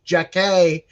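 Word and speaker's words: Jacque: is jackie robinson but it's spelled j-a-c-q-u-e jack-ay robinson is his dad i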